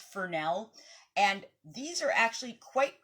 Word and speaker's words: Fresnel: l it's it's spelled like fresnel but it's pronounced Fel and these are actually quite good at giving